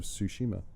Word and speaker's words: Tsushima: The one that stood out the most to me was Ghosts of Tsushima. Okay. However you pronounce it. Tsushima.